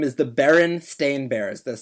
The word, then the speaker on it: Berenstain: I have to think about it because the Bernstein Bears. The actual name is the Berenstain Bears.